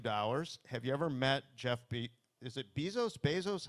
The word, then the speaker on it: Bezos: Have you ever met Bezos? How do you pronounce his name?